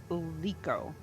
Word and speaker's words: Likho: I'm a I'm assuming that's pronounced Leo.